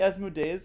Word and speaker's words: Asmodeus: My name's actually Asmodeus, and I would like you to pronounce it correctly.